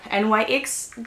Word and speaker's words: NYX: So, I mean, everybody's talking about NYX or NYX, depends. Everybody's pronounced that brand different ways. I'm gonna say NYX because it's easier.